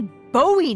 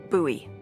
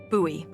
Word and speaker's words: Bowie: no warning he pulls out this huge Rusty Bowie knif it's actually pronounced buoy what no it's like the last name like David Bowie different last name buoy are you just messing with me no that's